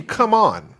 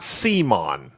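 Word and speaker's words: CMON: cool many or not so it's a hard C so it should be come on not C Mon yeah heart see all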